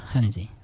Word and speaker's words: 汉字: দেখেন ওয়ার্ড হিসেবে যখন লেটার হিসেবে যখন এই যে এইচটাকে আপনারা উচ্চারণ করবেন তখন খ মানে একটু গলা থেকে নিয়ে আসবেন। আর যখন ওয়ার্ডের ভিতরে এই থাকবে হ্যা তখন হটাই বলবেন একটু গলা থেকে বলবেন হ্যাজি হজি ঠিক আছে হজি